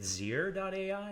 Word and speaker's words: Zeer.ai: I mean, now you're the CEO of, is it Zeer.ai? Is how you pronounce it? That's right. Zeer.ai.